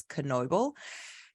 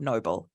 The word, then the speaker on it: Knoble: and I met at, my surname is often mispronounced because it's a KN, so it's Knoble. It's a loud K, not noble, Knoble.